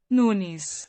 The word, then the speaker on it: Nunes: noodles from now on Nunes it's Nunes it is noonies so when we say